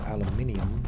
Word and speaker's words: aluminium: We say aluminum, and the British say aluminium.